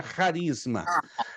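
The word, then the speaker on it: χάρισμα: raríssima tá Prisma que se escreve na transiteração do grego ch.a.r e s m a mas se pronuncia rarisma agora o que mais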